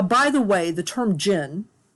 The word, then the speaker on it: jinn: There are several J sounds in Arabic, and the DJ is a particularly hard J.